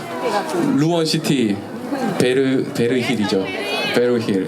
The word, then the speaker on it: 베르힐: 저 루원 시티 베르 베르힐 이죠 베리힐 예 베 예 이게 티가 들어가서 이게 묵음으로 좀 어렵더라고요 이름이 아파트 얘기 잘못하면